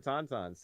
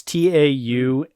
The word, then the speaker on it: Taunton: Hey, listen, Tauntauns. Tauntauns are great. Disgusting creatures. You know, there's a town in Massachusetts called Taunton. It's Taunton, Taunton, Taunton, and I always pronounce it as Tauntaun.